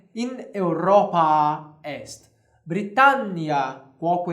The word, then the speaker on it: Britannia: dessa pronúncia aqui eu nós temos uma consoante dupla nós aumentamos o tempo dessa pronúncia aqui Britânia nós vamos vemos Britânia Britânia ou coisa parecida nós fizemos Britânia coloco é Europa este britannia coco e na Europa